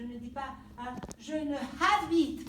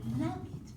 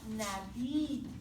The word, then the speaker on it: n'habite: Because the H, as a reminder, H is silent in French. Le H est silencieux. Je ne dis pas, je ne habite pas. Non. Je n'habite pas.